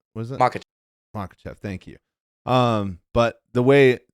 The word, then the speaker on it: Makhachev: Makhachev, right? Was it Makhachev?